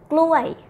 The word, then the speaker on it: กล้วย: Banana, with pronoun falling tone. Gluay. This is a lot word, huh? Gluay, and you repeat two times.